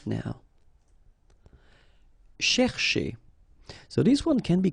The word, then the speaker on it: chercher: So this first part here, C-H-E-R, you will pronounce it quite open, so it's cher, cher, okay?